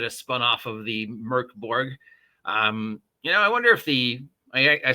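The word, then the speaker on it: Mörk Borg: Because remember, we've been pronouncing it wrong. It's Mirk. Not Mork, it's Mirk Borg.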